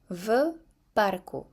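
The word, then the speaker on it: v parku: Vco. When I pronounce it all together, it sounds like F.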